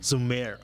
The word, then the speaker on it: Zhumir: How do you pronounce Zhumir. that? Zhumir.